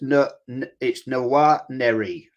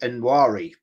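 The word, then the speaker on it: Nwaneri: It's Noir Neri. Noir Neri. Noir Neri. I've been saying Nwari, but it's actually I said the same thing.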